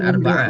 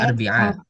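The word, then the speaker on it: أربعاء: Arb alar alar bia oh alarbia arbiah arbiah bukan arbaah ya cara bacanya arbiah arbiah itu rabu arbiah badaiah ma khamis yaumul khamis badal khamis jumuah Aljumuah.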